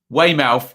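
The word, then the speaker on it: Weymouth: dislike there we go way mouth is pronounced like born mouth okay did I get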